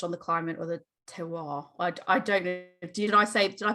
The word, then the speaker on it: terroir: can change based on the climate or the terroir. I don't know. Did I pronounce that right?